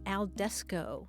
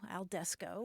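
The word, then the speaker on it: al desko: word d s k alesco and it's playoff of al fresco which is outdoors yeah but I'm dining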